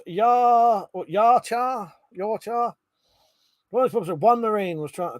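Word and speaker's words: Yautja: Pete said the predator race is pronounced Yarchar.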